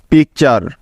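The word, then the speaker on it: picture: তাহলে এই শব্দটির উচ্চারণ হবে পি আই সি, পিক, এবং টি ইউ আর ই, চার, পিকচার, পিকচার।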